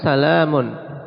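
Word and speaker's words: سلامٌ: Ketika kita mengucapkan salamun, ya kan ada suara nun, ya kan? Ya, tidak masukkan ya. Tapi ada nunnya gak tertulis gak ada.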